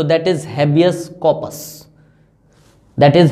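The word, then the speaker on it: habeas corpus: अगर इसकी actual pronunciation बोलूं तो that is हैबियस कॉर्पस, that is हैबियस कॉर्पस।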